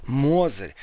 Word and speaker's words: Мозырь: виде яичницы название года Мозырь ударение падает на первый слог мы не уче оказываете Мозырь вот правильно говорить Привет из Самары деревня